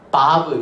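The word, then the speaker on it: וו: 달렛은 발음이 뭘까? 드. 렛. 해, 바브.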